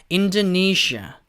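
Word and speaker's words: Indonesia: 간이나 인 돈이 쉬어요 여기도 시야 라고 하시면 안되고 약간 샤 유와 좀 이렇게 쪼 내지는 해주셔야 조금 버터가 발라지는 그런 발음이 에요 그래서 인 즈 니 샤아 인 즈 니 샤아 그런 식으로 발음이 됩니다 자 이어서 인 알아보도록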